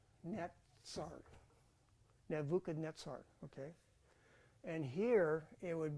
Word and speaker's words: Nebuchadnezzar: Z's in his name there's not a z in Nebuchadnezzar it's it's that word is is the letter Sade so it's neet Nuka netar okay and here it